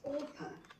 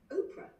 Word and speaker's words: Orpah: Her name actually isn't Oprah, it's Orpah Gail Winfrey. And apparently she was named after Orpah, who's a biblical figure in the Book of Ruth. But apparently nobody knew how either to spell that name or to pronounce it, so she became Oprah.